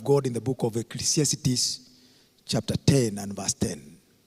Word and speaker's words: Ecclesiastes: I want to just share from the Word of God in the book of Ecclesiastes, chapter 10 and verse 10.